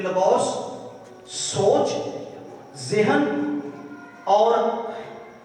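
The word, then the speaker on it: λόγος: ये लफ्ज लोगोस, जी सुनिए, लफ्ज है लोगोस, जिसे बुजुर्ग कुछ और प्रोनाउंस कर रहे थे। लोगोस ग्रीक वर्ड है।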